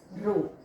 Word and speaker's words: rho: It is pronounced as rho.